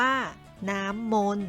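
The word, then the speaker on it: น้ำมนต์: อ่าน ว่า รถ ยนต์ น้ำ มนต์ อ่าน ว่า น้ำ มนต์ นาย แพทย์ อ่าน ว่า แพทย์ ดวง อาทิตย์ อ่าน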